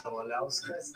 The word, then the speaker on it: Kavaliauskas: My name is Egidijus Kavaliauskas.